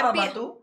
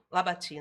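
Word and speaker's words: Labatut: Ele Não é, era é, Labatu? é Pierre Labati, na verdade. Labati, por causa da Não, eu tô pronúncia falando, francesa.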